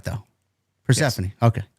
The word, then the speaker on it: Persephone: Well, it's pronounced Hazuki. Hazuki, okay. Yeah. I got Persephone right, though. Persephone, yes.